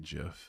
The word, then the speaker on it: GIF: You're not gonna like it, but I pronounce it Jif. I can't stop myself from pronouncing it like Jif. GIF always makes me think like the word gift, and I try to differentiate between the words whenever possible.